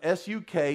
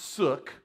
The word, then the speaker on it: suk: The Greek word is S-U-K. It is pronounced suk. Okay? This is not the suck anointing. This is the suk anointing.